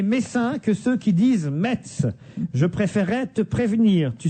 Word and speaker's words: Metz: ne prononce pas le T. Je suis moi-même messin et sache qu'on doit dire Metz.